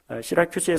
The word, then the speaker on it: 시라큐스: 수라구사, 시러큐스인데 한글 발음으로 옮겨 적다 보니까 수라구사가 됐습니다. 시라큐스입니다. 시라큐스에 상륙해서 거기서 멜리데보다 훨씬 큰 섬이죠.